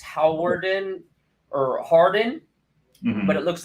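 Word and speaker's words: Hawarden: it's important it's it's it's different than it's pronounced it's howarden or Harden but it looks like hot Warden but so like yeah yeah American people would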